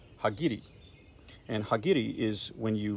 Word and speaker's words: Hagiri: So let's perform Hagiri on this one as well. Or kind of the more Americanized pronunciation, Hagiri. H-A-G-I-R-I.